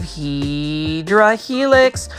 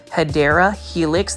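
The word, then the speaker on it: Hedera helix: Look at that massive Heedra helix or the correct way to say it is, say it with me, Hideera Helix.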